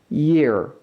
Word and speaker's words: year: 이렇게 읽으시면 안 되고요 J 모양의 발음기호를 신경 써 주셔서 이렇게 읽어 보세요 중간에이 소리를 살짝만 넣어 보세요 해서 year year이라고 읽어 주시는게 맞습니다